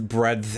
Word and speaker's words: breadth: covers the whole width, breadth, and other words here of what that particular musical genre is. as I pronounce the D in breath in order to exemplify that that's the word that I'm saying.